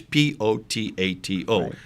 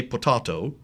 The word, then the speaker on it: potato: written text is always P ot ATO the confusion is on how you pronounce those vowel collective so the British say potahto in America we say potato it's still the same word written am I correct